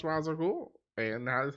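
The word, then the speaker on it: Ra's al Ghul: it's pronounced sure but in this movie it's pronounced Raza ghoul in the cartoon it was pronounced Raza ghoul and that is how I know it that's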